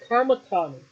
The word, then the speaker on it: Kamatani: Kam, Really, Saya Kamatani. Kamatani, thank you. Well, Of all the Japanese names, that's the one you had to pronounce wrong.